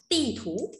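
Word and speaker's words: 地图: Bản đồ đọc là cái gì đây? Tì thú nhá, từ đọc là tì thú.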